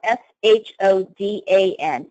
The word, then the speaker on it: Shodan: For those of you who are unfamiliar with this, it's spelled S-H-O-D-A-N, Shodan, which is designed to find critical infrastructure devices that can be accessed from the Internet.